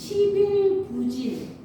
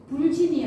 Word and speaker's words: 부진: 검은 를 배우라 배우는데 부진 불진이 아니라 불자가 붙었지만 이거는 부로 발음해야 되죠 뒤 아니 불자 뒤에 디귿 지극 열매 실이 올 때는 자 우리 부정 입합 이러지 불정 입학 안 하죠 열매 실이 와서 부실공사 그러지 불실 봉사 안 하듯이 그래서이 아 여기 아니자